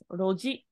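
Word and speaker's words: 路地: So rather than chi, it's actually pronounced as ji. Yes, roji.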